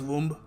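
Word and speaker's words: womb: इट इज the mother's वूम नहीं B silent है और हम इसको बोलेंगे वूम वूम अगला शब्द है सलोन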